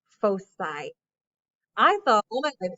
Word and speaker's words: foci: so i just learned that this word is pronounced foci i thought oh my god everyone i've ever